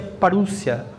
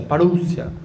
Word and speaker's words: parousia: Aquela palavra vinda, de Mateus 24, é a palavra parousia, se pronuncia parúcia, erúcia, parúcia, parousia, né?